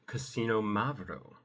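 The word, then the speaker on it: Xinomavro: front, you can do casino-mav-roh, which again, this is a Greek word, so it's not spelled remotely how it sounds. It sounds like casino, like the Martin Scorsese film, and Mavroh, like...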